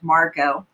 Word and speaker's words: Margot: except for one named margot and that's how you say her name even though there's a t on the end it's silent they had all grown